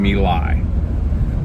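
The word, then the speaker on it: My Lai: action near the vietnamese city of malay or malay it depends on how you or me lie excuse me i really blew it there on the pronunciation me lie um the actions that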